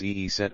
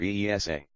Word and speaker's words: Isis: It should also be noted that the preferred pronunciation of Isis is Eeset or Eesa.